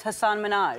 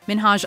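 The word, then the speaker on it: Hasan Minhaj: Television good please because everyone that says your name says Hassan Minaj yeah not only is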